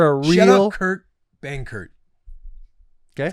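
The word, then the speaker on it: Benkert: out Kurt Bankert.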